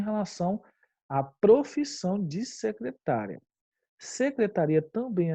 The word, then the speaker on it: secretaria: e aí a bebê é secretária ou secretaria tá então é fui até a secretária buscar o novo formulário e eu acho que o meio estranho né vamos tentar outro fui até a secretaria buscar o novo formulário ficou mais correto né então é nós marcamos aí secretaria e não secretária secretária é a regra